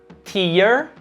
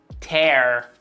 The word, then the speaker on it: tear: Começando por tear e tear. Talvez você até já conhecia a palavra lágrima, tear, mas temos em inglês o verbo rasgar que se escreve da mesma forma, mas pronunciamos tear.